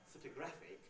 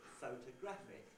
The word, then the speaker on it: photographic: is rather rhythmically strong if i say the word in isolation it's not photographic but photographic so that means an